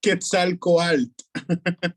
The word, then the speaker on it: Quetzalcoatl: On voit le temple de Quetzalcoatl, la misère à le prononcer. Je me souviens bien, c'est le Quetzalcoatl. serpent traîné. Pardon? Quetzalcoatl. Ah, merci, t'es meilleur que moi.